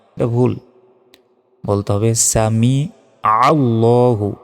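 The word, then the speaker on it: سمع الله: আমরা অনেকে কি বলি সামি আল্লাহু লিমান হামিদা এটা ভুল বলতে হবে সামি আল্লাহু আইনের উচ্চারণ করতে হবে সামি আল্লাহুতে এক সেকেন্ড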